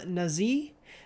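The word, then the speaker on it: Nazih: the music was by hashem nazi um i believe that's how you pronounce it n n-a-z-i-h from most well-known for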